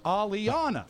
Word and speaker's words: Aliana: Aliana. ALL-EE-capital O-N Right. dash small U-H. Because that's where the accent is on. So it's Aliana.